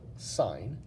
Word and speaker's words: sine: and they stand for sine cosine and tangent that's how we pronounce these words even though you write it just si n we call it sine and then cosine and